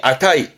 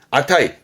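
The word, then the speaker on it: 値: 혼자 두면 발음이 아타이. 아타이.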